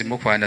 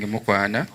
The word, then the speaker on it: Mukwana: that one very well, instead of saying Mukwana, they have always changed that last A and they put it there O.